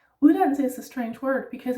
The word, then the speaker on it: uddannelse: Uddannelse is a strange word because it actually has first a soft D and then right after that another D, which we do pronounce because it is a hard one.